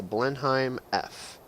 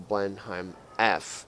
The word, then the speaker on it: Blenheim: British heavy fighter the blend I'm f I know you guys pronounce it differently but that's how i pronounce it you're gonna have to live with it rant over so the